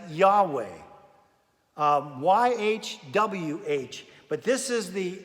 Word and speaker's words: Yahweh: We would pronounce it as Yahweh, YHWH.